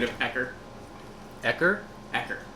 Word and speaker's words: Ecker: Ecker. Oh, not Eckerd. How would you spell that? E-C-K-E-R. Ecker, the mad scientist.